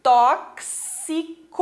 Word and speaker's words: tóxico: Então, nós vamos ter tóxico. O que acontece? Esse X tem um som de KS, ok?